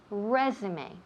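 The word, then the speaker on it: résumé: word right pronounced incorrectly constantly so the correct pronunciation is resume David let me hear you with me okay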